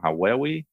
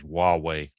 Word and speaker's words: Huawei: I use a rather older one from, and I'm going to butcher the name, Huawei.